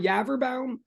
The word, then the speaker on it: Yaverbaum: Again, I'm Yaverbaum. It rhymes with cadaver town, sort of.